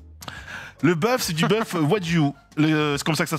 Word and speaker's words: Wagyu: Le bœuf, c'est du bœuf Wagyu. C'est comme ça que ça se prononce. Wagyu, ouais. Wagyu, par contre.